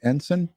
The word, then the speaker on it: Ensign: It just gives a brief synopsis, and it says Alex, and am I saying it right? Ensign? Yeah. Yeah.